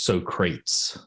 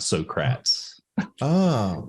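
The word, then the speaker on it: Socrates: hate to nitpick but the correct pronunciation is so crates not so craps Barbie and for me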